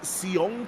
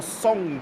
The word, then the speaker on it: Seong: That is Seong KP. Or Song KP, I should say, because I've been told that's how you pronounce South Korean.